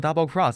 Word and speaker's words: XX: 你知道叉叉读作 double cross，但 double cross 的意思其实是欺骗和背刺吗？